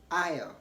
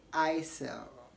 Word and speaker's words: aisle: should be noted that whenever s comes before l in the following ways s is silent so you don't want to pronounce the s in IO IO aisle okay don't say I sell or whatever say Aya Ayah in the same way